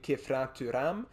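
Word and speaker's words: Khéphren Thuram: As a French player, I would pronounce his name Kefren Thuram, but that's just me.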